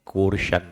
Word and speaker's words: coercion: अगर प्रोनाउंसिएशन की बात करें तो कोर्शन, ऐसा कुछ तो बोलते हैं।